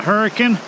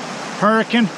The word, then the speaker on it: Hurricane: This is the Hurricane Creek, or as us locals call it, the Hurricane, which I guess if you were to spell that would be H-U-R-I-C-U-N, Hurricane.